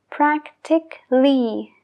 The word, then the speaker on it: practically: sí otro ejemplo practical la segunda a que viene antes de la l sí que se pronuncia practical practical pero si leado un sufijo se deja de pronunciar practically nunca decimos practically no practically practically entonces practical y practically